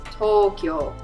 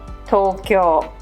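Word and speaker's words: とうきょう: that e as a if you see a hiragana u after an o ending hiragana read that u as o there are many common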